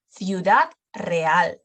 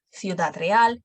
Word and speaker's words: Ciudad Real: Lo pronunciamos como th, we pronounce it as th before E and I, before E, I. Por ejemplo, Ceuta, Ciudad Real, Cincinnati.